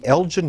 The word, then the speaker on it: Elgin: And the Elgin Marbles, Should They Be Returned to Greece? What is this very quickly about? It's actually Elgin, it's a hard G.